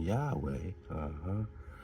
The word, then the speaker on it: Yahweh: of ancient Hebrew linguistics led many scholars to advocate for the pronunciation Yahweh.